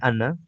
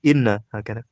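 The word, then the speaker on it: إنّ: Ismu inna nukariraniah innauru inna kita bacanya inna dengan e hamzah di kasrah i hak itu ketika jatuh setelah e fi'il qala yaak qul ya ini kaidah makrufah dia dibaca inna bukan anna ya itu ketika jatuh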